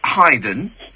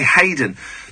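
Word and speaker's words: Haydn: like a little bit of Hyden think that's how it's pronounced so a spear and you're surprised I pronounced it correctly aren't you it's the only one because most people say Hayden well I've got um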